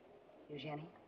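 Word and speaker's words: Eugénie: north what's your name eugenie no kidding i really mean it crazy french pronunciation and all it's pretty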